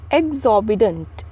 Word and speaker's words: exorbitant: Our next word is एग्जॉर्बिटेंट। एग्जॉर्बिटेंट, not don't, is अ टन, ठीक है, एग्जॉर्बिटेंट, EXORBITANT, एग्जॉर्बिटेंट। आर जो है ना हल्का सा साइलेंटली बोलना है लेकिन थोड़ा सा धीरे।